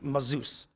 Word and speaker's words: Mazouz: We have on with us David Mazouz. Is that pronounced?